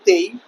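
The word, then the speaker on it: taille: এই টেলি নামক যে ভূমিকরটি ছিল তাকে ফরাসি উচ্চারণে বলা হতো তেই।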